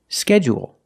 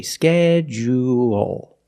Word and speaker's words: schedule: First, let's talk about this word because it has 2 different pronunciations. Some people stress the first syllable only, and some people stress both syllables. If you stress both syllables, you say schedule, schedule. And you say schedule, schedule, schedule, schedule.